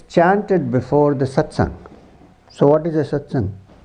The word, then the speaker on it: satsang: it's chanted before the satsang so what is a satsang a satsang this is a satsang satang is divided into two syllables sat and S now sat means the